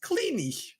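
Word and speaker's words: Kleene: pronounces words right and he pronounces it cleany cleany noing C there's no way it's cleany is look it up it's cleany that's mad [ __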